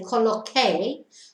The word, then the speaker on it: coloqué: You would say coloqué, but the spelling would change to QUE to keep the K sound for the pronunciation in the pre-treatment.